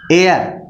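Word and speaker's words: heir: जैसे हरी इज़ एन एयर, ठीक है, यहाँ पर एयर भी कहते हैं।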